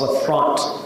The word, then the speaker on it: LaFront: Not LaFrance, LaFront. Like Rembrandt. It's a silent D, is that right?